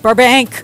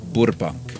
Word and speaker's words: Burbank: drink safe water and Burbank Burbank not bank or as the cab driver pronounced it the other day bubun but well you knew